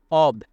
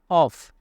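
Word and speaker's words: of: মানে হচ্ছে গর্বিত, অ্যান্ড অব, এই অফ থেকে আমরা অনেকেই উচ্চারণ করে থাকি অফ, না, অফ হচ্ছে ডবল এফ থাকতে হবে। ও এফ, এফকে বলা হয় অফ, আর ও এফকে বলা হয় অব, অব।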